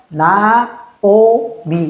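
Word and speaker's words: נעמי: 이인데 여기에 나오미 할 때 여기 있잖아요. 요거는 특이하게 있잖아요. 또 오 발음으로 읽어요. 그런 게 조금 가끔 나오거든요. 맨날 나오는 건 아니고 그런 게 가끔 나와요. 그래서 나오미 이렇게 되는 거예요.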